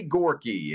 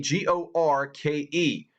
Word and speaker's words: Gorke: I believe it's Gorke, G-O-R-K-E. I'm going to say it's Gorky as opposed to Maddie Gorke, but one way or another.